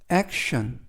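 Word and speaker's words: action: 사람처럼 보인다라는 뜻이 되겠습니다 이번 표현은 액션 액션 액션이라고 발음하시면 되겠고요 이때 ton 끝부분 TI이네 개의 철자가 션 발음이납니다 그래이라고 발음하시면 되겠고요 품사는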